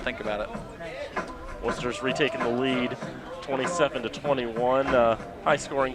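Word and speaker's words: Wooster: That is actually pronounced Worcester, even though it's W-O-O-S-T-E-R.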